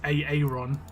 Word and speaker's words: Aaron: it always brings up Aaron or Aaron. Like, Americans pronounce Aaron wrong. They have an I in there that doesn't exist. But the whole joke is Aaron.